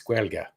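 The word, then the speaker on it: Gaeilge: And I said, and how do you say it? Because I never know how to say Irish words. And it's Guelga.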